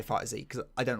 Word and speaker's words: FighterZ: I thought you don't pronounce the Z separately for Dragon Ball FighterZ, so it's just like fighters but with a Z.